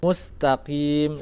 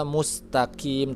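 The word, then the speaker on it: مستقيم: itu mustaqim sini-sini tubruk infitah yang terbuka jadi ketika membacanya Jangan Mus Mus tapi Mus Ya ditarik Mus dan setelahnya adalah huruf qaf ya bukan huruf Kaf jadi jangan-jangan bacanya mustaqim tapi mustaqim maka jadinya ihdinashirotolmustakim perbaikan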